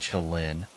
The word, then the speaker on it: Ulin: I'm almost 25 years old, and I've lived in a tiny village called Ulin, pronounced Uhlin, for about 2 years now.